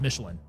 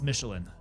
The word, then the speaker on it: Michelin: It's also less French pronounced. It's literally the tire company, so we're saying it's just Michelin. It's Michelin.